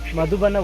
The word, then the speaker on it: Midubanda: almost reached the mood I I can't for the life of me pronounce this waterfall correctly madhubanda madhubana waterfall this is what my wife says they says it correctly madhubana waterfall we almost reached we